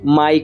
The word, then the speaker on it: MG: como laboratorio mg cierto se pronuncia May pero ese es digamos así el gran reto de nosotros May como mío en inglés precisamente porque nos gusta